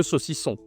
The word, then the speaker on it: saucisson: Prononciation toujours le nasal qu'on voit partout, hein. Le saucisson.